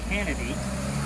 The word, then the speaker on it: Canady: His name was John Canady. That's John Candy with an extra syllable.